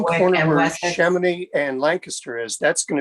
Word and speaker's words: Chamonix: Chamonix? Yeah, it's French.